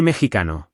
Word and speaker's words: mexicano: There are no accents, so the stress naturally falls on the second to last syllable. Note that the X is making a H sound here.